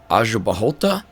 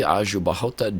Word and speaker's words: Aljubarrota: tough Portuguese pronunciation um I think it's aahot uh I think if I screw that up you will let me know hopefully Azu bahot double RS RR pronounced like ha uh in Portuguese which is uh uh different for me so the very famous